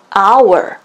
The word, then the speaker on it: hour: 하지만 우리가 시간을 말을 할 적에 시간 단위 hour, hour, hour H가 silent H, 묵음 처리가 됐죠. 그렇다면 O, 첫 소리가 되겠습니다.